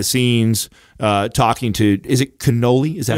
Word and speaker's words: Canole: This was behind the scenes talking to, is it Canole? Is that how you say it? Yeah, Canole is his last name.